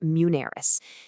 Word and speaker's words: Muneris: And if you're looking for that kind of guidance, a great person to talk to is Monsour at Manerys, and that's pronounced Munerys.